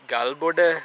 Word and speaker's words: Galboda: road towards now Lapita through gal Buda some people pronounce it as gal Buda caliber and it including the colonial period it has been spelt as cold boot day those who have visited